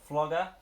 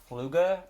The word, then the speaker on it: Fluger: I'm calling him Flugger, because otherwise I have to pronounce it as Fluger, and I don't want to pronounce it like that, because it just sounds like some sort of snot word.